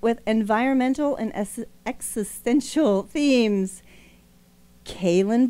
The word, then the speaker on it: Calen: Calen. Did I say it right? Calen. You did, yeah.